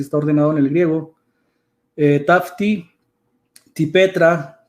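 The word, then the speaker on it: ταύτῃ τῇ πέτρᾳ: Que cuando dice sobre esta, la roca, porque así está ordenado en el griego, tafti, tipetra, que vendría siendo la pronunciación, no concuerda con el sustantivo petros.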